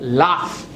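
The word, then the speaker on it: laugh: एच लॉग होना चाहिए तो ये लॉग नहीं है ये बनता है लाफ inaugural what it beam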